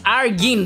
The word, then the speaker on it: Argen: dude by the way my name is argen that's how it's pronounced how can you say